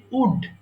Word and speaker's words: would: দেখো অনেকে ভুল করে ওল্ড বলে এখানে কিন্তু এল এর উচ্চারণ হবে না এটা এলটা silent letter so you don't need to pronounce L in this ওয়ার্ড সো এটা হবে সিম্পলি উড উড যেমন কাট কাঠের